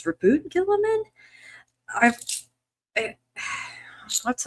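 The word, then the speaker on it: Roboute Guilliman: It's like I've heard I've heard his name pronounced Rabbout Gillaman, but I guess it's Rabboot Gillaman.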